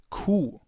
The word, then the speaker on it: Q: It's Kuh. Kuh. It's pronounced the same way as the German word for the animal cow.